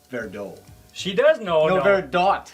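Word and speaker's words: Verdot: malbec and petite what does your wife say verdo she does know very dot she says right yes you know how to pronounce it properly so this is good and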